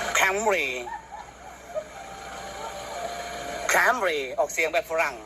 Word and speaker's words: Camry: หอม จริง ๆ ยัง ไง อ่ะ Camry Camry ออก เสียง แบบ ฝรั่ง ถ้า คน ไทย